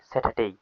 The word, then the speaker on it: Saturday: এস এটি ইউ আর ডি ওয়াই ডেই। স্যাটারডে। এইযে এখানে দেখতে পাচ্ছ ডি এ ওয়াই ডেই। এটা ডে হবে না।